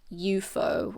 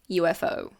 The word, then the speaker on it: UFO: We pronounce each letter. So we don't say eufo or UFO. It's UFO. UFO.